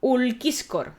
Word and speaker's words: Ulciscor: Entonces, pues el glosario con pronunciación y glosario de personajes con pronunciación dice que este hombre se llama Ulquiscor, claro, italiano.